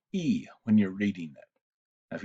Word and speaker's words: y: of the letter but when you read it it's pronounced e it gets translated as